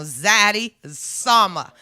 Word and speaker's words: Zaddy Sama: Zaddy Sama. Okay? Zaddy Summer. See, there you go. Zaddy, not Daddy.